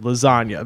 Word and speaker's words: lasagna: Obviously meaning there's a silent G in the word lasagna.